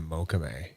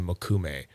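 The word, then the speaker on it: mokume: lovely pattern on the moch sorry makum I'm still working on getting that goddamn word right I pronounced it wrong for years so there's a transfer period going on from moch to makum I'll get there one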